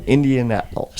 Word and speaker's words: Indianapolis: Like, She got it when I said, just think of Minneapolis and just put Indian in front of it. Yeah, Indianapolis.